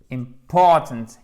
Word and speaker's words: important: Yes, alors oui, ça porte bien son nom, c'est parfait, c'est important de bien vous souvenir que l'accent tonique, il est là. Ça, c'est un I court, donc important, important, ok?